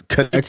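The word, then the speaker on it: Knecht: the 17th pick yeah it looks like it should be necked but connect is I'm how it's pronounced yeah uh asked me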